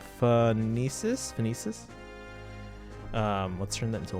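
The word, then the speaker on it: Phoenicis: number first I in is how is it pronounced phonesis um let's turn that into a one just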